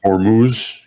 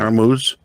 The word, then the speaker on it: Hormuz: got there of, or how do you say, Hormuz? Hormuz. Yeah. Hormuz. Yeah.